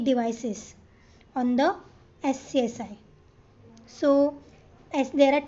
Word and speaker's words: SCSI: So it is pronounced as SCSI and it is an interface for the disk drive that was first completed in 1982.